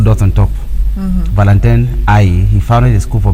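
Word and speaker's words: Haüy: Actually, it is pronounced Aïe in French, H-A-U-Y. Okay. The U has 2 dots on top. Valentin Aïe, he founded a school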